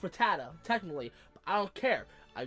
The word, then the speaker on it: Rattata: running into Pidgey and ratat I know it's pronounced Rattata technically I don't care I grew up with the original show and they call it ratat so screw you I'm call ratat and it's